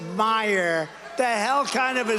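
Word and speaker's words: Meijer: of the 10 impeachers, a guy who spells his name M-E-I-J-E-R, but they pronounce it Meyer. The hell kind of a spelling is that? Meyer. Meisher.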